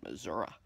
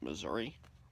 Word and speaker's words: Missouri: on the West Coast, called it Missouri. It's spelled Missouri. But here, they call it Missouri.